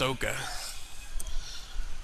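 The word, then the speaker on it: Okada: Sounds like it is pronounced Oka.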